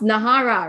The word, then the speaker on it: Nara: Wow, okay, Nara, all right, which is pronounced Nahara, right, which is one of the best tasting collagen drinks that I've tried.